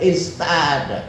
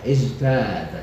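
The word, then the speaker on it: ازداد: Tapi tidak bisa diucapkan istada, isdada karena dekat zin, dekat za.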